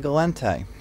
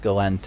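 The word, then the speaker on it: Gallente: I do also believe they're descended from the French, which they do have a habit of stressing that extra E on the end.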